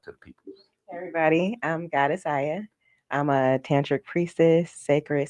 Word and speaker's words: Goddess Aya: May you please pronounce your name? Yes, please introduce yourself to the peoples. Everybody, I'm Godessa.